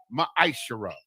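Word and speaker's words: מעשר: verses 8 through 10 means 10th in the hebrew and it's pronounced maishirah 10 of every penny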